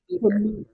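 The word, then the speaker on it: Mütter: We are just as happy if you pronounce it with a long oo sound like scooter. So I'm just gonna say muter.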